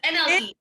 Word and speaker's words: NLE: It's NLE. NLE? And bro, I felt old because I don't know these new rappers. You talking about E-L-E, and she knew she was saying it wrong.